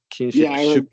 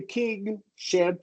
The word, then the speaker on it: kingship: And the secret there is if you say kingship, right? First you're doing a long e and then the ng, right? And kinship is totally a short eye. No substitute. If you go with short eye with king with king kingship then they can sound very similar and that's why I like going with long e and an ing.